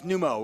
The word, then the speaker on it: Numot: know what we said, Nemo or something. No, that's Numo, where the T is silent.